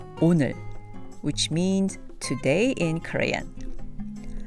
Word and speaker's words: 오늘: 오늘, 오늘, 오늘. So by the end of saying the word 오늘, you should find your tongue right behind your upper teeth.